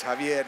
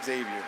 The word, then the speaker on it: Javier: college, I started saying, no, X like an H, Javier. And so I have now had to go through most of my life reminding people Javier is spelled with an H sometimes, and it is Javier, not Xavier.